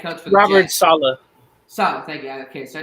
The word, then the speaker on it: Saleh: Because if we're being honest, though, once Robert, I think, I can't pronounce his last name right. Is it Salah? I can't remember the head coach for the Robert Jets. Saleh.